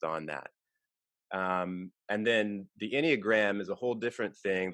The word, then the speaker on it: Enneagram: and the wait, how do you Yeah, the pronounce it? Enneagram.